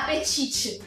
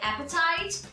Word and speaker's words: appetite: E eu sempre falava apetite. Então é só para ensinar também a pronúncia de appetite.